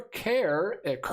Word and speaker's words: Kerr: Brian Hatzel, Deborah Kerr, I'm probably saying that wrong, is actually pronounced, that's what the comment is about, is actually pronounced like car.